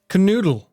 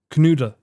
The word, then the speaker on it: Knödel: So you don't pronounce the L, and the O with 2 dots is U. Knude.